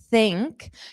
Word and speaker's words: think: So for think you have to think of the the mouth position. So for your tongue is going to be between your teeth and then you're going to push out the sound.